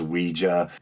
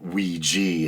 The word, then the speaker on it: Ouija: I think they're saying pretty much the correct pronunciation is we ja but we G has become so popular and common place that it's acceptable as well and we G is funnier but anyway so here we go